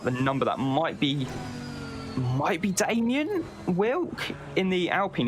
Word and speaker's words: Damien: Talking of pronunciations, Damien is the organizer. It's Damien. Damien.